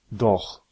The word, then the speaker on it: doch: Une prononciation qui vient après A, O, U, AO se prononce R. C'est un bruit de gauche. Par exemple, Ach. Auch. Doch.